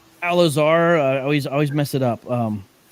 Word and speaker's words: Al-Azhar: Al-Azhar.